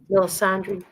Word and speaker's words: Melisandre: Oh, Melisandre. That's how you say it.